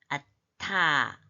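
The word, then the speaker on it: אַתָּה: 나는 아니, 남자인 너는 아타. 이거를 두 가지로 발음할 수 있어요. 그냥 아하고 따로 된 소리로 하든지 하나 타브를 앗에서 붙여가요. 아타 하든지 두 가지가 될 수 있어요.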